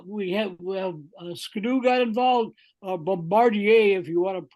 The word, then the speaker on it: Bombardier: you know uh we had Scadoo got involved Bombardier if you want to pronounce it properly uh they got involved and